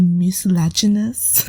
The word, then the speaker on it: mucilaginous: And when you boil them, they release a mucilaginous gel. Yeah, you gotta say the word like that because I googled it and that's the way that the video said to pronounce it.